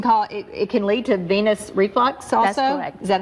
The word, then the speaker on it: venous reflux: uh these can cause it can lead to venous reflux also is that how you pronounce that yes that that that um blood